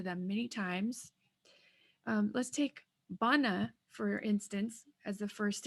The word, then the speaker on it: bana: and you'll notice that bana has uh the first a in the word does not sound like the second a so let's take a look it's bun ah ba na so this first a doesn't sound the same sounds more